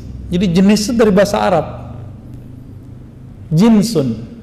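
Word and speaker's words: جنس: Jinsun. Jins. Apakah Anda memakai celana jeans, Tuan? Itu sesuatu yang sama sekali berbeda. Diucapkan Jans. Dan yang ini adalah Jinsun ja, jim nun sin.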